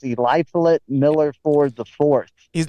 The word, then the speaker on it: Eliphalet: It's Eliphalet Miller Ford the Fourth. His name is Eli Flit.